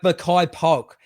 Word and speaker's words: Makai Polk: uh uh pimpleton uh how do you pronounce his name maya k polk my my case yeah my makai poke like makai polk now i i watched